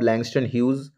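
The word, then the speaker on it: Langston Hughes: the poetic style of ল্যাংস্টন হিউজ এখানে অনেকে হিউজ হিউজ বলে হিউজ নয় কিন্তু একচুয়াল প্রোনাউন্সিয়েশন হবে ল্যাংস্টান হিউজ with reference to Harlem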